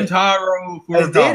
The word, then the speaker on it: Shuntaro Furukawa: How do you pronounce it? You said Shuntaro Furukawa.